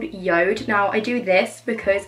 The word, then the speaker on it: JORD: I have been collaborating with recently is called Yoda now I do this because it looks like it's pronounced George but it's Yoda I promise you so basically they sell the